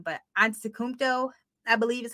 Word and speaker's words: Antetokounmpo: I always mess up his last name, but Antetokounmpo, I believe is how you say it.